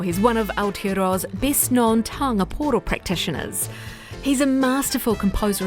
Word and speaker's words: pūoro: And the first question I asked him, if I was pronouncing the word taonga pūoro correctly. You are correct, it's taonga pūoro, and taonga pūoro basically